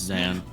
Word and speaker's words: Xanne: Uh to end, how do you pronounce it? It's Zan. It's Xan.